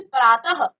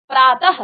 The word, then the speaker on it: प्रातः: विसर्ग क्या होता है इस ध्वनि का उच्चारण ह के समान होता है देखिए जब भी हम क्या करते हैं किसी भी शब्द में विसर्ग लगाते हैं तो ह का उच्चारण लास्ट में आता है जैसे प्रातः अतः तो ये क्या है